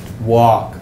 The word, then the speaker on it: walk: in front of it walk awk you don't hear the L but it's there walk